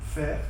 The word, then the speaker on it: Pferd: Ici, on va dire Pferd, à partir de l'Alsace, on va prononcer le PF, alors qu'ici, on va prononcer, comme vous au Luxembourg, le P sans F, on va éliminer le